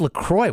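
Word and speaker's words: LaCroix: saw people say lroy I'm like what is lacroy where's the X like I felt dumb saying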